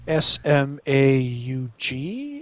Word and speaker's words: Smaug: keep talking about uh the dragon's name is smog yes the shmog it's spelled weird though s-m-a-u-g i think it's like smaug why am i